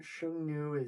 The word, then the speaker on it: Xiongnu: Well, Xiongnu Xiongnu is the way that it's pronounced currently. Okay. Um it was probably like Hung-ga-ya.